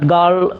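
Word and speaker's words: girl: তাহলে গার্ল, আমরা অনেকে গার্ল বলি, বাট গার্ল সঠিক উচ্চারণ, কারণ এখানে আরটা হলো সাইলেন্ট লেটার।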